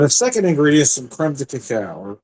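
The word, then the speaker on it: crème de cacao: And the second ingredient is some creme to cacao or cream to cocoa as some might pronounce.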